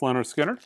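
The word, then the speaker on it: Lynyrd Skynyrd: hundred import analog records you should own this pronounced leonard skinner great record free bird sounds awesome miles davis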